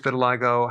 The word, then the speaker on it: vitiligo: I want to talk about vitiligo. Vitiligo. That's how it's pronounced.